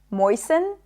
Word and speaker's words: moisten: But just so you know, the T is generally not pronounced in this word. Fasten, soften, moisten. It's not moisten, moisten.